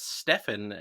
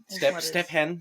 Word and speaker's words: Stephan: i feel like i had people who pronounce my name as stefan even though i was like it seems everyone does this it's it's stephan stephen yeah uh to be